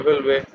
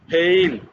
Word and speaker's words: fail: Practical genuine native উচ্চারণ হবে ফেল। একটা হচ্ছে FAIL, যেটা বানানটা আগে বললাম, FAIL, ওটা হচ্ছে ফেল।